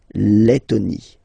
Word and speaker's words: Lettonie: So remember when you've got this and then a double letter like that, T, okay, then you will have to open your and it will become Lettonie.